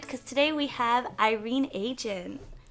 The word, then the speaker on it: Adjan: This is Diana, and I'm so excited because today we have Irene Agin. Wait, that is how you say it. That was excellent.